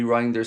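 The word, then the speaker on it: Reijnders: It's Rainders or Rinders, excuse me. Reinders.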